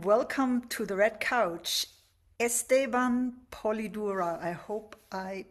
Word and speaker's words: Esteban Polidura: Esteban Polidura. I hope I pronounced your name correctly.